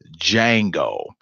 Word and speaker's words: Django: tonight's show is called Django that's d.j a in G Oh the D is silent now for those who are not for me with this with the film Django reason why I chose